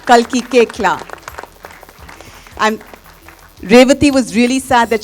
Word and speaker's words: Koechlin: So please help me in welcoming Kalki Koechlin. Kalki Koechla. It's pronounced Koechla. Kalki Koechla.